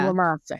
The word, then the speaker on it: Iwamasa: His assistant, Kenneth, I can't pronounce his last name. I can't read. It's Iwamasa? Yeah. Iwamasa.